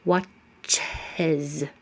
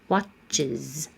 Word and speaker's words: watches: Watches. You add some space, add an extra syllable. Watches.